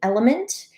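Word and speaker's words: LMNT: So a couple of my best recommendations there are going to be element. It's spelled LM NT.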